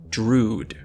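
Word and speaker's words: Drudkh: has not changed so as of my understanding at this very moment it is Drude I don't know how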